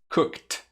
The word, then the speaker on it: cooked: Cooked.